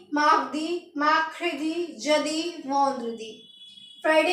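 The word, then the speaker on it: jeudi: लिखेंगे जेई यू डी आई और इसको हम प्रोनाउंस क्या करेंगे जदी क्या बोलेंगे जदी थर्सडे को हमें बोलना है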